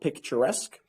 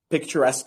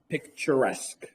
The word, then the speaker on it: picturesque: It's like a synonym of the word picturesque. By the way, I think you guys should practice the pronunciation of that word. A lot of people say like picturesque or esque.